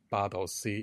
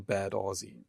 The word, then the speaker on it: Bad Aussee: even my whole home area, I'm from a place called Bad Aussee in German, but again, another reference to Australia. If you read it in English pronunciation, it turns into Bad Aussie.